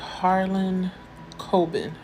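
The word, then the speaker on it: Harlan Coben: the book series by Harlan Cobin that's how you say it earlier excuse me I gave his name extra R I apologize um but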